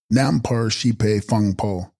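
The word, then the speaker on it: Rnam-par-shes-pahi-phung-po: Text: Renampar Shispahi Pongpo, pronounced Nampar Shipe Fungpo.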